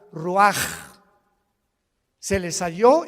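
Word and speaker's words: רוּחַ: Roach así como suena se pronuncia la ch en hebreo como J raj se le só y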